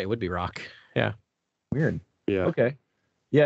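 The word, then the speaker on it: Rok: I pronounce his name Rock, but that's okay. Rock. Is it Rock? Oh, yeah, R-O-K. I guess it would be R-O-K. Yeah, R-O-K. That would be Rock.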